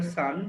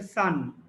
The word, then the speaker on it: son: উচ্চারণটা খেয়াল করো, এটা হচ্ছে LOSE লুজ, আর SON এটা হচ্ছে সান। তোমরা অনেকেই লুজটাকে লস বলো, আবার অনেকেই সানটাকে সন বলো, এটা খেয়াল রাখবে একটু। তাহলে অ্যাট দিস হিজ ফ্যামিলি